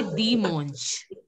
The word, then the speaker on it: dimanche: So it will be Dimanche. Dimanche. Okay. Arun Pandyan, can you say Dimanche? Dimanche. Yeah, Dimanche. A-N will be pronounced as on.